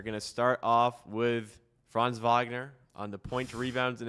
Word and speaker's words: Franz Wagner: Pronunciation was well, right? That was good. Yeah, I mean, you don't need to roll the R, but okay, my bad.